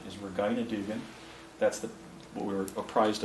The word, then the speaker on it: Regina Dugan: Here's Regina, or also known as, actually, I think the correct pronunciation is Regina Dugan.